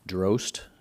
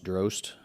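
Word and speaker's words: Drozt: His name is Thomas Drost. His last name is spelled D-R-O-Z-T, but it would be like you're pronouncing roast, but it starts with a D. So Thomas Drost, welcome him.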